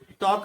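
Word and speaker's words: talk: Fifth word है टॉक, टॉक में third letter L silent रहता है।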